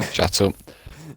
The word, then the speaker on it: Chetil: And why Rizzi and Wedgie you're again pronouncing Chetil's name wrong? Chetil.